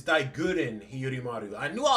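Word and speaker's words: Daiguren: It's not Dyen. It's Digguren.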